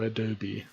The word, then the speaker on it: Adobe: You pronounce the E, okay, so Adobe.